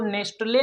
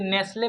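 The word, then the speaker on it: Nestlé: इसको नेस्टले नहीं पढ़ेंगे दोस्तों, टी साइलेंट है चूंकि, इसलिए नेस्ले पढ़ेंगे। क्या पढ़ेंगे? नेस्ले।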